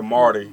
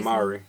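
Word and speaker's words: Māori: The Marty. He called it the Marty. Marty because it got that line over the A. Yeah. But we call it Myrie.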